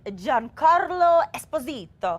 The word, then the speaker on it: Giancarlo Esposito: New Mexico style and John Carlo Esposito I have to say it like that because he said he's Italian and he likes to pronounce that way well known for his